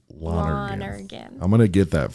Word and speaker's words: Lonergan: I want to say Lone. I know. You say it like you spell it. Lonergan.